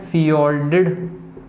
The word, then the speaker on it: fjord: है, उसको बोलते हैं फियोर्डेड कोस्ट, क्योंकि यहाँ पर फियोर्ड बनते हैं, जिसको FJORD भी लिखा जाता है। तो यहाँ पर हो जाएगा फियोर्डेड सी कोस्ट, प्रोनाउंस किया जाता है इसको फ्योर्ड।